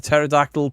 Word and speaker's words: pterodactyl: My son Ethan said, why can't you hear a pterodactyl pee? Because the pee is silent.